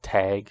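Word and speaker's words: Tagge: But then I think there's also, you can get, I think this is pronounced Tag, so like House Tag.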